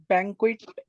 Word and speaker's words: banquet: Can you pronounce it for me? Banquet.